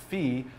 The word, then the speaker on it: phi: who who whoa F the letter Fe is always pronounced Fe in Greek and it does not differ if followed by a vowel or consonant so there you have